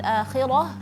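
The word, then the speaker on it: الآخرة: Cuma eh satu catatan juga dari Kak Nabila adalah ketika membaca eh ulaikalladina habitat a'al fid dunya wal akhirah. Ya, ha yang di akhir yaitu usahakan dibacanya tipis.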